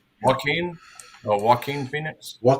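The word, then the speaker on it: Joaquin: Walkin or walkin Phoenix. Walkin. There we go. Not Jackin. Walkin.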